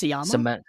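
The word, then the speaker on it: Sciamma: Um Seline, how do you pronounce it? Sama Sama.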